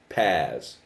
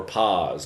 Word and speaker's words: PaaS: platform as a service pass or pause depending on how you say it software as a service